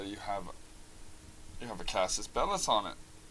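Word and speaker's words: Casus Belli: have you have a Cassis Bellis on it CIS belly is like the way I is the way you're supposed to pronounce it actually so we actually have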